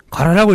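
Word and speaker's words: 韓: 그런데 이제 한을 일본 사람들이 가라라고 읽거든요. 가라.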